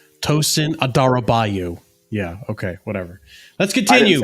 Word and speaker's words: Adarabioyo: You're pronouncing his name wrong. You guys are trying to... Tosin ADARABIOYO. ADARABIOYO. Tosin ADARABIOYO.